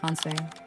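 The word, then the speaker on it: 反省: Pronounced hansei.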